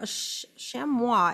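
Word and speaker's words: chamois: have excuse me um shamua I think that's how you say it French right the the the S is silent this is good um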